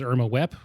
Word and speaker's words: Irma Vep: Also, I watched a movie a couple days ago called Irma Vep, which everyone who's French in the movie pronounces Irma Wep, whatever.